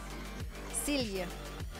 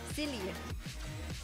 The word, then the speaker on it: Cilia: Right, how do we pronounce... Can the Dutchies tell me? Can the Dutchies please tell me? Cilia. Cilia. There we go. Cilia.